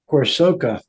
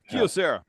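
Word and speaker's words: Kyocera: Uh Corsoka. Did I pronounce that right? Greg Kosera. What? What? Kiosera.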